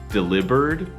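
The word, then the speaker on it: Delibird: And then December 30th for two times catch Stardust is going to be Deli Bird. And someone told me recently that the pronunciation is delivered because it delivers gifts.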